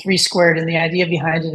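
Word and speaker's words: 3² Biosciences: We actually, it's written 32 Biosciences. We pronounce it 3 squared.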